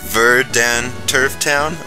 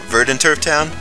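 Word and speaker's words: Verdanturf Town: and V ver ver I love when you realize how to actually pronounce names of City in the Pokémon games like I thought eque city was called Ur Creek City veran Turf Town verden Turf Town That's So Random verden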